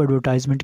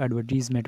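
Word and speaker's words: advertisement: अब हम बात करने जा रहे हैं जॉब एडवर्टाइजमेंट के हवाले से। इसको एडवर्टाइजमेंट भी पढ़ सकते हैं और एडवर्टीजमेंट भी पढ़ सकते हैं, ये दोनों प्रोनाउंसिएशंस इसकी ठीक हैं।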